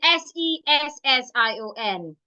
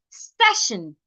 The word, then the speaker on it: session: While the other one does not have a K sound. It's session, session.